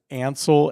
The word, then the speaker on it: Ansel: the way Mike says my name but it's Ansel a-n-s-e-l am I saying it wrong no